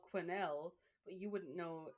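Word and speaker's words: Quesnel: from a place that you don't pronounce the S, it's Quinnel, but it's spelled Quznel. So, anybody that ever covers her is always like the Quznell Museum.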